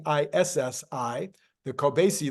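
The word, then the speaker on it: Kobeissi: I finally found out how to pronounce that it's spelled k o b i SSI the coasy letter while CPI inflation is at 3.4% inflation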